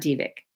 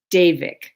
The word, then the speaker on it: Devic: some people call it because it's spelled D V I C they say divic it's not divic daic just like Day Day and Night davic Kingdom there is a